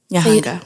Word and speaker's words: Nyahanga: Am I pronouncing it right? Is Nyahanga. It Nyahanga? Yes. Nyahanga.